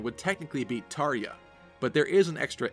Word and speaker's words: Tharja: This would mean that the J in Tharja would be pronounced like a Y, Tharja.